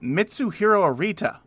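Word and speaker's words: Mitsuhiro Arita: all he's King Pokemon but he can't even pronounce the name of the illustrator correctly it's mitsu hero arita yeah but which in in a lot of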